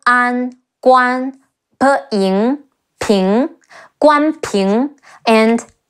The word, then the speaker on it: Guan Ping: Another two sons of Guan Yu who are historically recorded are Guan Ping, Ge Wu An Guan Pe Ying Ping, Guan Ping, and Guan Xing.